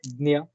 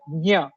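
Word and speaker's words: ज्ञ: Just like Dnya, Maharashtra it is pronounced like Dnya, the na ya. In north it is pronounced like gya, and in south it is pronounced like gna. So as per the logic and the letters which are there present in that particular conjunct consonant, I can say that it should be pronounced like nya.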